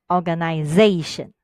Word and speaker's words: organization: In the word organization, we stress on Z, organization.